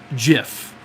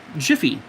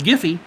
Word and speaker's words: Jif: on on on bread jiffy Jiff Jiffy it's not pronounced giphy spread some giphy on my